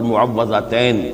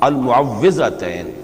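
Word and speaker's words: المعوِّذتين: کچھ مشکل ہوتی ہے، عام طور پر معوذتین یہ غلط العام میں اس کا نام مشہور ہو گیا ہے، لیکن اصل میں المعوذتین واو کے زیر کے ساتھ۔ اور اس میں بھی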